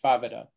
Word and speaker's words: Favata: Her name is actually Favata, and that's spelled F-A-V-A-T-A.